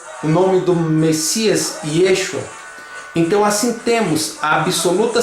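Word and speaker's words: ישוע: Porém, a letra Ain não se pronuncia quando está no final da palavra do aramaico. Daí o nome Yeshua em aramaico se pronuncia como Yeshu.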